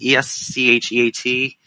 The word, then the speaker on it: escheat: Dollar balance, how do we pronounce it? Escheat? E-S-C-H-E-A-T?